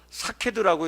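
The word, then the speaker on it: שקד: 우리가 살구나무라고 할 때 이 살구나무를 히브리어로 사케드라고 이렇게 발음을 합니다.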